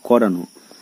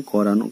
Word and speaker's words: করানো: তো করানো, দেখো এখানে করানো করান লেখা আছে করানো, নয়ের সঙ্গে একটা অ রয়েছে কিন্তু এই অয়ের উচ্চারণ হচ্ছে ওয়ের মতো।